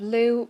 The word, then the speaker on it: Lugh: a brief reminder of who the character of Lou pronounced like an luu sound but spell l u